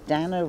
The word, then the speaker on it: Dana: But, I mean, because I'm usually called Dana or Dana, and I tell the notes, Dana rhymes with Spanner.